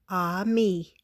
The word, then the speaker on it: ami: You say it like this, ami.